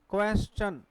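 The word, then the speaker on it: question: चस अब इंपोर्टेंट बात है क्या लिखा देखिए क्वेश्चन अब देखि क यू से क्या बनेगा आपका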